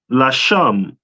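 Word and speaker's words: Leshem: Which is pronounced in the Hebrew Lasham. Lasham. No sign Christ. All right. So it's the Legia, which in the Hebrew is pronounced Lasham.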